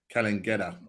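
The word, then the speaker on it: Cairns: our time was spelling calling Kena that's how they pronounce it do you like it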